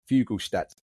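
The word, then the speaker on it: Fuglestad: Emmy, can you help me with my Norwegian pronunciation, please? Fugalad. One more time. Fugalstat. If it was English, it'd be Fuglead.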